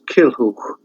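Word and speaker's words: Culhwch: But you have other names which are probably hard to pronounce. Kilhuch, Kilhuch, and Olwen.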